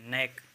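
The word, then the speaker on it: knack: होगा जोड़ और ये के एन ए सी के नेक इसको नेक कहते हैं मतलब आदत या फिर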